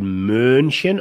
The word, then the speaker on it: München: Zum Beispiel München oder schön ist diese lange, runde Aussprache. München? München, ja. Und ja, München ist kurz. München.